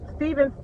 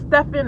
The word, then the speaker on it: Stephan: for you by stephan stephen stephan i can't even say his name right it's stefan i know stevens i